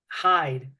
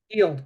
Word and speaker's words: Hield: I think it's pronounced Hyde. Hield.